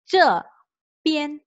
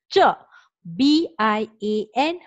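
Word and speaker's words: 这边: B, kat situ kita perlu sebut P. I-A-N, di situ kita perlu sebut yen. So, untuk ejaan di sini kita kena sebut ce, pian. Kita tak boleh sebut ce, bian. Bian tu salah.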